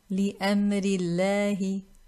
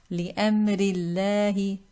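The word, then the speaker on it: لِأَمْرِ ٱللَّهِ: Now we look at the cases in which this Laam in lafzul jalala is pronounced with tarqeeq, pronounced light, with a flat tongue and empty space in the mouth.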